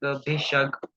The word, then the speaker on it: भिषग: Prashamana para महामोहांतंक प्रशमन पराकस्मिक भिषग. You will pronounce this as go. The G sound in English we have na, that is go.